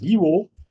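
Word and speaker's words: YEWO: program is known as y-e-w-o or you can pronounce it as evo or it stands for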